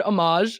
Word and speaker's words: homage: our poster is an how do you say that word homage is that right omage yes okay keep that in I